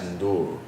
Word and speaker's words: Ndour: Well, correct pronunciation for people that I would say from Senegal is Ndour. So it's the ND, but it's Ndour.